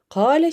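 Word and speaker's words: قال: demek söylemek manasına geliyor hale şeklinde okunuyor ve Kaleden aklınıza gelecek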